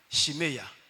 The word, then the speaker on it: Shimei: Vous savez, Shimei en anglais, comment on prononce ça? J'ai appris ça avec Ongoran Yannick. Shimeya. Shimeya. Shimeya.